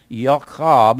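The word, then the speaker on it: יעקב: He said, or Yaakov is the way it's pronounced in Hebrew.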